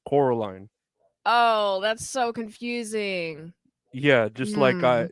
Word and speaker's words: Coraline: name in the movie they keep calling her Caroline but it's Coraline oh that's so confusing